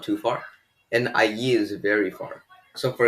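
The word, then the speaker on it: allí: There is actually next to no pronunciation difference between the ahi and ayi. However, if you want to differentiate between the two, I would recommend that you stress the two L's here.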